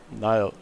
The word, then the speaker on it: Niall: Yeah, I made a small mistake into crocodiles, but yeah, all ups to Neil. Niall. Niall. Gotta say it like that.